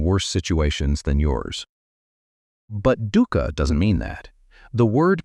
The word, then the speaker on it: dukkha: The Pali word he used, the word at the center of everything he taught, is dukkha, Say it like this: Dukkha. 2 syllables, the second one soft.